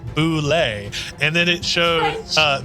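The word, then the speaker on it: Bulette: don't listen to her I Googled connect correct pronunciation for uh for that word for this monster and it says correct way is Boule and then it showed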